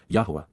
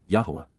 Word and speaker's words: Yahowah: and respectful and perfect just yahwa yahwa the proper pronunciation of the name of yloah god as directed in his Torah teaching regarding his higher